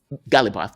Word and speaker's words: Ghalibaf: Bagher, I'm not going to try to pronounce it. Bagher Ghalibaf. Ghalibaf, that's it.